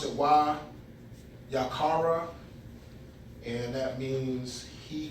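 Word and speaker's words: וַיִּקְרָא: So I'll try to pronounce it Wayaqara.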